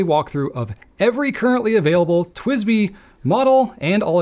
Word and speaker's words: TWSBI: a grand tour of the fountain pen manufacturer twisby twsbi and that's how it's pronounced in case you didn't know I'm going